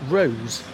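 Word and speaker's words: Wroes: Oh yeah, do you pronounce that? W-R-O-E-S, Rose.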